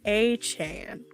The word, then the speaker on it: Etienne: Oh, I forgot to mention, Travis Etienne Jr. He was, of course, signed with the Saints, and he said to pronounce his last name, it's A-Chan. What? A-Chan. So it's Travis A-Chan, not Etienne.